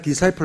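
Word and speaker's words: disciple: 제자가 디사이플 아닙니까? 제자 훈련은 동사로 하면은 디시플린 그래요. 디시플린. 디사이플 발음하지 않고 디시플린. 저는 어릴 때 중학교 1학년 때 배워가지고 지금도 잊지 못해요. 발음이 달라. 디사이플.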